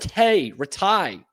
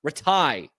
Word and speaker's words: Rataj: Michael Ret Rattai Retai I believe is how you say that. I've heard both I've heard announcers say it both ways.